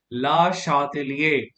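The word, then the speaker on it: Le Chatelier: यहाँ फिर से आप ली चार्टलियर प्रिंसिपल लगाएंगे बच्चों। तो एज पर ली चार्टलियर प्रिंसिपल, जिसको फ्रेंच में हम प्रोनाउंस करते हैं ला शातेलिए, के हिसाब से क्या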